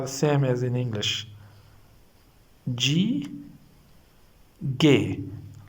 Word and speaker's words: G: Gay like this we pronounce it. Okay. G A Y. Gay. This is not G. This is gay.